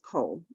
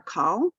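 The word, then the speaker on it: כל: meaning all or everything it's always pronounced coal it's never a call sometimes you'll see it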